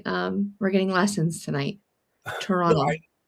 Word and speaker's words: Toronto: like they're just um especially on the east coast I noticed that we don't pronounce the last T. Toronto.